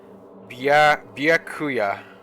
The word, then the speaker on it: Byakuya: Byakuya. Like Kia or Nya? Yeah, Bia. Right? Bia, Kia, Nya. Byakuya. Don't pronounce the E? Yeah.